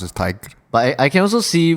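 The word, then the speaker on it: Tadhg: Mm-hmm, It's actually a Scottish-Irish boy's name, pronounced Tig. So Tadgh is Tig. Tig. I can kind of see how this can be pronounced as Tig.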